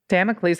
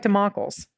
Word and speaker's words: Damocles: this is sort of democals damn it please Damocles I like democals well I like it spelled it's spelled like democals okay sort of demo please